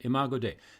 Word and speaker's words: imago dei: word in philosophical terms imago dei sorry if i mispronounced that no that's right imago dei made in the image